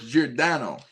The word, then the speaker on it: Giordano: So, it's Jordano.